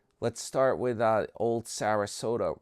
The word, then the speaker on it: Sarasota: We'll start let's start with uh old Sarasota rhymes with Yoda.